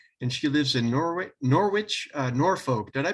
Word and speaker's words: Norwich: screening the Supernatural and she lives in Norway Norwich Norfolk did I pronounce that correctly yeah in the UK and